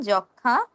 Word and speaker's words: যক্ষা: যেসব ক্ষেত্রে এমন দেখবেন যে যুক্ত ব্যঞ্জনের সঙ্গে কি মফ লাগিয়ে যুক্ত হয়েছে সেসব ক্ষেত্রে মফলের উচ্চারণ হবে না। যেমন যক্ষা সূক্ষ যক্ষা সূক্ষ িয় নিজে একটি যুক্ত ব্যঞ্জন তার সঙ্গে গিয়ে আবার ম যুক্ত হয়েছে। তাই আমরা ম এর উচ্চারণ করবো না।